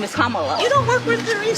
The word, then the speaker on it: Kamala: how to say her name earlier you said Kamala the way she pronounces her name is Kamala you don't work with theas see that car